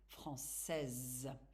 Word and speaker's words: français: But to say it correctly, I'm saying that you really have to stress on the last letters. Je suis française.